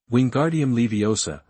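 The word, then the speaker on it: Wingardium Leviosa: Your spell pronunciation is not accurate. Wingguardium Leviosa. The sound of Moo should be long and clear.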